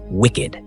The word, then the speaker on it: WCKD: Thomas and Teresa once worked for the organization that built the maze called WCKD, pronounced wicked.